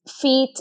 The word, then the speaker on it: FEAT: It's feet and then lower score, eat smart. So it should be coming up if like feet is spelled FEAT, which stands for like fit eating.